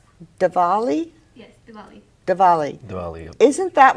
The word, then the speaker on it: Diwali: Manpreet, since you have been, we're talking about the girls getting money and such, and I thought, now is it pronounced Diwali? Yes, Diwali.